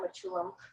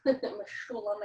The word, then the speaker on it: Mechoulam: And so they discovered, they meaning Raphael Mechoulam, Mechoulam I think is the way you pronounce his name.